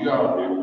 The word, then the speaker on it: Yahweh: So as represented by these four characters, it is pronounced Yahweh by the Hebrew-speaking people.